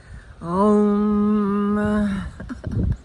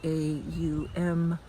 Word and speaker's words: Om: Um, if it's pronounced correctly with the A U M type of inflection rather than the O M we in the West usually pronounce it Om, which sounds okay, but from scripture it's pronounced Aum, A U M, and